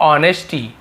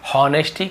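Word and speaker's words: honesty: खुश हूँ, with your ऑनेस्टी। ऑनेस्टी यहाँ पर भी एस साइलेंट है, केवल ऑनेस्टी पढ़ेंगे, हॉनेस्टी कभी नहीं पढ़ना है।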